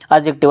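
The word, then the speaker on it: adjective: एडजेक्टिव नहीं बोलना, इसे ध्यान रखना, डी साइलेंट रहता है। एडजेक्टिव।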